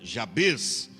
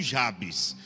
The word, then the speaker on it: Jabes: de Jabes Na verdade tem muitos que pronuncia já fez né Jabez mas a gente é mais familiarizado com Jabes Então vamos deixar o Jabes tá já penso que eu acho que é mais corretamente o português já peso mas parece